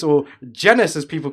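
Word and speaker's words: Jermaine Jenas: and Newcastle midfielder Jermaine Genius, or Genus as people called him, and then he had to put it in the public that it's actually genus that rhymes with penis.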